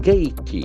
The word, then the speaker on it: gaiety: That A is sort of very prominent.